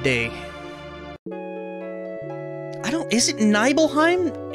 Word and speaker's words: Nibelheim: i don't is it nibbleheim is it mount nibal that sounds right but mount nibble n-i-b-e-l but nibbleheim sounds better than nibelheim maybe it's one